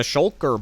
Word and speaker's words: Shulker: In the shulker box. Shulker makes me have to think a lot to say. You have to kind of double chin it to say it right.